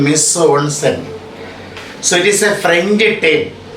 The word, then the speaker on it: mise en scène: So, how is the pronunciation? Mise en scène.